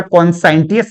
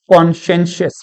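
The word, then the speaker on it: conscientious: इसको कृपया कॉन्साइंटियस मत पढ़े, तो इसकी सही स्पेलिंग होगी कॉन, SCIENTIOUS। कृपया इसको कॉन्साइंटियस ना पढ़कर कॉन्शियंशियस पढ़ें।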